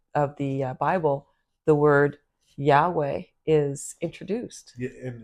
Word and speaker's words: Yahweh: And there's no vowels in the actual word Yahweh. It's YHWH. Yeah, for an English person, I think any language without vowels, it's very hard to pronounce. And it's quite amazing when you when you pronounce it the way that it's to be pronounced. It's yeah. No, it's like yeah. It's breathing in and out.